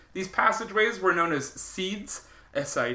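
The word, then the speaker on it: sidhes: These passageways were known as seeds.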